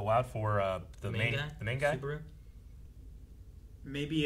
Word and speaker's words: Subaru: Sabaru, but she says Subaru. I have Subaru. I swore I heard like 2 or 3 different things from everyone. I'm like, Yeah, sure. What we at? What's Like this guy's name? it's spelled the same way as the car. Yeah. Like it's supposed to be pronounced like Subaru.